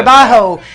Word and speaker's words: trabajo: And that was Trabajo. Did I say it right? Yeah. Trabajo.